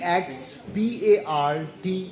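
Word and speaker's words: ex parte: by the way uh e ex p a r t e this term the legal term is pronounced as expart now I am the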